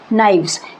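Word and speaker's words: knives: दो से ज्यादा चाकू नाइस इसमें के नहीं बोला जाता के साइलेंट होता है एक रूप है रूप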